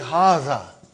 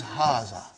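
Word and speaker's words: هٰذَا: See, it is pronounced like Haza. But this alif is not written. It is explained in the key also. So it is Haza.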